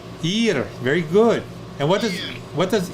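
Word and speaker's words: עיר: Ayin is silent. Ir.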